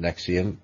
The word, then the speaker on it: NXIVM: Now, it's pronounced NXIVM, but it's spelled NXIVM.